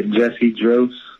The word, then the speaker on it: Jussy Dros: All right, man, the first thing I got to ask, man, is did I pronounce that name correctly? Because I'm known to tap an artist's name. Yeah, Jussy Dros.